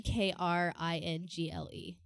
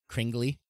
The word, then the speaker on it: Kringle: It's literally Kringle. KR. Spell it again. KRI. N. GLE. Kringly. Exactly. Kringle. Kris Kringle. People, that's what, like, Christmas comes, they're like, oh, it's Kringle. It's Kris Kringle.